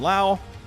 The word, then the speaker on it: Lowe: Brandon Lau. Yes, I finally pronounced that right.